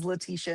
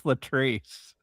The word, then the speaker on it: Latrice: Is it such a dream that you got her name wrong immediately after saying it was your dream? It's Latrice.